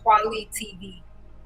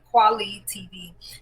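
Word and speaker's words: Kweli TV: video, I found them again, and it's called Quali TV. It's spelled Q, no, not Q, sorry, KWELI.TV. KWELI.TV, Quali TV.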